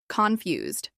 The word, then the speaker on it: confused: This is pronounced with stress on the second syllable, confused.